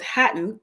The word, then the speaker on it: Hatton: satin so then I came up with Hatton that's the girl's name to rhyme with satin and then I needed